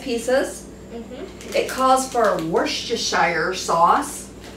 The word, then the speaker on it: Worcestershire: It calls for Worcestershire sauce. Worcestershire. But it's called Worcestershire. Worcestershire. Everybody pronounces this different.